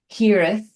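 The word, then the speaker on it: hiraeth: think it's a beautiful word, and it is hireth. And apologize that my pronunciation is probably not perfect, but the word is hireth.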